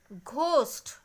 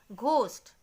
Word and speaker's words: ghost: Ghost. From the pronunciation, can you guess which one is the silent letter? Ghost. Pronounce it again and again loudly. Ghost. Here the pronunciation of H is missing.